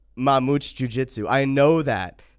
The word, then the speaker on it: Mamute: Say it slower. Mamute. It's Portuguese.